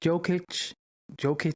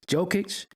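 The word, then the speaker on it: Jokić: you pronounce his name joke joke you know they always got a CH and they should be a c but jokic whoa dude is he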